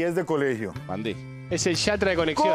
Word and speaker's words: Van Dijk: Y el nombre Van Dijk, ¿cómo se pronuncia, verdad?